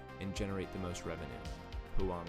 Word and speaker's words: Huang: the token throughput, and generate the most revenue, Huang said.